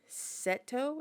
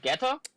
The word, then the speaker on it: Geto: They're going on the backstory with Gojo and Seto. Is that how you say his name? Ooh, Geto?